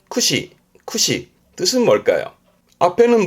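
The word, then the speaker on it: 駆使: 발음은 쿠시 쿠시 뜻은 뭘까요? 앞에는 뭘 굳자고 뒤에는 사용하는 거잖아요. 그래서 말을 몰면서 사용하는게 능숙하다. 그 능숙하게 다루는 거를 구사한단 말을 하죠. 뭐 언어를 구사한다라든가 그렇죠. 고르테스는 구사예요. 발음은 쿠시 쿠시 요건 뭘까요?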